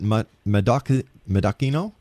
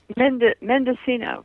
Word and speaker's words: Mendocino: Is it Madoca Madakino? Roslyn? Mendocino.